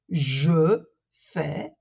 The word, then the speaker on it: je fais: j'ai fait des promenades attention à la différence de prononciation entre le présent je fais et entre le passé j'ai fait je fais du shopping